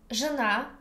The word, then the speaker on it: жена: Жена means wife, and there is a new pronunciation rule about же. Here we pronounce like жи. It's middle between y and e, жена.